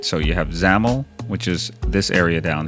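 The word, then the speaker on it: XAML: right so you have zaml which is this area down here you can see it says zaml that's how that's pronounced and then on the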